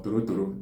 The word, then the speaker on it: torotoro: Then in Igbo is called Tolotolo or Torotoro, depending on the part of the Igbo line.